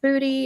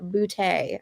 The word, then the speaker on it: Boutte: It's not pronounced booty. It's not pronounced boot or other things that I've heard. He is classy, guys. He pronounces it Boutte.